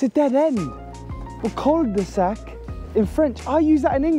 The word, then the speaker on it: cul-de-sac: But cul-de-sac in French, I use that in England.